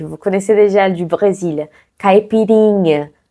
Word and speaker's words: caipirinha: Caipirinha. Vous voyez que le plus fort, c'est les rinha. Caipirinha.